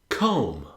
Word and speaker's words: comb: Comb. Comb rhymes with home.